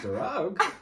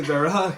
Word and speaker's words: Darragh: And she was like, darragh. I didn't say darragh. That's just what all the Americans pronounce it as.